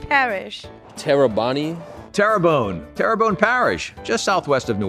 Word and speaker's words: Terrebonne: wachita parish a wachita parish a wachita parish turban parish terrebonne terrabone parish tarabani terrebonne terrebonne parish just southwest of new orleans houma thibodeaux